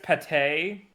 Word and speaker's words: pate: It's pronounced pate.